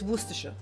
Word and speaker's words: Worcestershire: It looks like Worcestershire. Yeah, but it's Worcestershire. It's just I don't know. It's the letters don't mean the word.